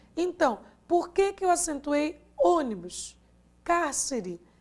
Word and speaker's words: ônibus: Se eu disse ônibus, não é o bus, não é o ni, a sílaba tônica e sim o o. Então, não é a última, não é a penúltima, e sim a antepenúltima, que é a tônica.